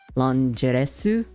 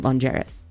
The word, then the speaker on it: Longeris: remember this one because somebody said that it basically sounds like lingerie. Longeris, I do believe is the word. No one was entirely sure how to pronounce it, but somebody in the comments said that in the Korean Raws, it was kind of like pronounced Longeresu. So Longeris would make sense.